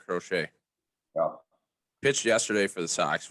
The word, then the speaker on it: Crochet: to pronounce his name at first i thought it was crotchet no but it is in fact garrett crochet pitched yesterday for the